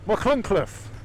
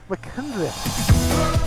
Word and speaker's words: Machynlleth: We are we are in Machynlleth. Are you sure about that? Are you sure about that? Look, careful now, you're going into difficult territory there. You're going to try to avoid pronouncing that T. Machynlleth.